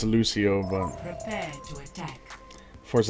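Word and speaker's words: Lúcio: sick yeah I know it's I know it's pronounced Lucio I just actually I think I said I said lukio I think that's wrong too yeah I know it's I know it's Lucio but prepare to attack force a habit I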